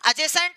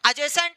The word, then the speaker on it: adjacent: चलो आगे देखते हैं एडजेसेंट एंगल ये डी जो है वो साइलेंट है डी को पढ़ना नहीं है भैया एडजेसेंट एंगल्स यानी ए आसन्न